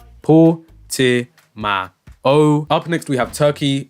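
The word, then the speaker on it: Portimão: Yes, Motormeerkat, it's pronounced Portimao.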